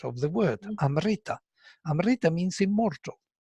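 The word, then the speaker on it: अमृत: You will say Amrita, but not Amrita, and the accent is on Ri. Yeah, this is the Vedic accent of the word Amrita.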